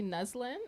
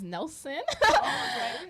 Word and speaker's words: Neslin: I'm saying yeah so my full name is actually neslin and um it was actually a very complicated experience growing up because nobody can pronounce it like just by reading it they would actually like read it as Nelson like Nelson yeah yeah what's a